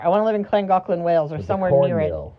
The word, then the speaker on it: Llangollen: Wherever Llangollen is that how you say it?